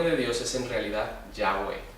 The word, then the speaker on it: Yahweh: Ellos insertaron las vocales de Adonai abajo de las consonantes y así nos llegó como Jehová, cuando el nombre de Dios es en realidad Yahweh, o se pronunciaría Yahweh.